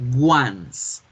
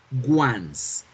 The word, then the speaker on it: once: Tengo la palabra 11, que se escribe 11, pero no me la vayan a pronunciar nunca como 11. Es un primer error que hacemos. ¿Por qué? Porque como ya la reconozco como el número 11 en español, yo tiendo inconscientemente a pronunciarla 11 y no la debemos pronunciar así, se pronuncia once, once.